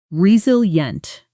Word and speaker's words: resilient: The pronunciation re-sil-ient The stress is clearly on the second syllable.